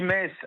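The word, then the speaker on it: Metz: à Mess si vous le prononcez bien, on dit messe à Paris, on dit.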